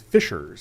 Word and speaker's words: Fishers: Is is it Feers uh Mr. Principal or is it something else? Having lived there for uh many years it is Fisers.